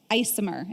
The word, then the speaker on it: ICMHR: health recovery services or icmhr isomer is how they're pronouncing it these days that's also targeting our